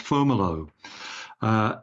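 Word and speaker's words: Fomalhaut: around a star whose name is face usually pronounced formal oh it's built fo mal hae sung mi soo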